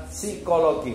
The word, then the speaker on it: psikologi: Sama juga ketika psikologi jawabnya e bacanya adalah psikologi. P-nya enggak dibaca jangan sampai salah nih ya.